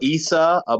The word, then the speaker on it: Isa: Isa in the Quran, he's Maryam Isa.